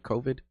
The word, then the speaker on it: COVID: Did I pronounce it right? COVID?